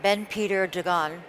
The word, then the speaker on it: Ben Peter Dagan: Rudy's grandson, Ben Peter Dagan, did I pronounce that right? Yeah.